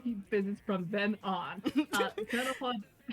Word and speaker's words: Sandalphon: I keep mispronouncing his name. I mispronounced his name like 2 times. Why you guys let me get away with this? Sandalphon.